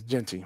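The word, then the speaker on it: Jeanty: It's Genty, right? Appreciate the super chat, A-Cash. Appreciate the super chat. It's Genty. My bad.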